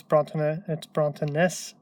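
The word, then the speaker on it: bronntanais: Present with the I there, it's Brontanas, pronounced more or less the same, but this is the plural form.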